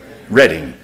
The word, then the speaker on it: Reading: How do you pronounce that? Reading or Reading? Reading. Reading, Pennsylvania.